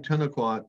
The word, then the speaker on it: Tenalquot: i instead of an e in the first syllable but 10 o'clock then the the spelling ten o'clock t-e-n-a-l-q-u-o-t i use that one because it appears